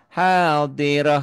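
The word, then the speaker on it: حاضرة: Tija tijaratan hadirah. Karena tak marbutah ya bunyinya jadi ha dan apapun tandanya semua jadi sukun.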